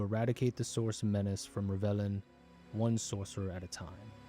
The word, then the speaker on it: Rivellon: I think it's pronounced Rivellion.